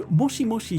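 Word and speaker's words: もしもし: clearly the same sound moshimoshi but here aerith actually says moshimosh so the she just kind of turns into a shh right that kind of sound you'll often notice this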